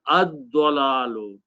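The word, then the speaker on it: الضلال: Al will change to this one dhamma, and also dad is a shamsi letter which kills the sound of lam. So you pronounce dad twice, ad-dalalu, and that's the word in the Quran.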